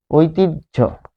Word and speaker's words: ঐতিহ্য: যেমন অসহ্য যদি বলি, এখানে আমরা যদি বলি ঐতিহ্য, ঐতিহ্য, দেখুন দেখে তো মনে হচ্ছে হ, কিন্তু উচ্চারণ কি ঝ। ঐতিহ্য কিরকম, তাহলে ওই থাকলে হয় ওই, এটি হচ্ছে একটা নিয়ম এক।